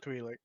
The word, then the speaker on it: Twi'lek: Twi'lek.